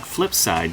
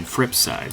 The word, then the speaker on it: fripSide: Not Flipside, Fripside, so that's spelt with an R, one word.